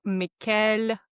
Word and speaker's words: Mikel: Please welcome to the show, Mikuel. I hope I'm pronouncing your name, your first name correctly.